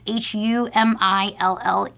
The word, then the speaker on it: Humillé: already know, but hopefully if you don't, it's Humille.